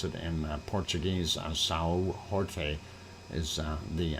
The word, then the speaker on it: São Jorge: If you want to pronounce it in Portuguese, São Jorge is the name of that St.